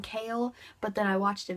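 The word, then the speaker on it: Chaol: And when I read Throne of Glass, I pictured Kale's name Cole for some reason. I thought his name was Cole. That's how I said it.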